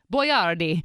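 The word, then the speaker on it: Boiardi: And Boyardee was actually spelled B-O-I-A-R-D-I. Boyardee. But when he started canning his pasta, he changed the spelling to what you see today so that Americans could properly pronounce it.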